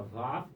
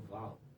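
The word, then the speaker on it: ו: Iod, a letra Re, a letra Vav, ou Val, pode ser chamada Vav, ou alguns pronunciam Val, e a letra Re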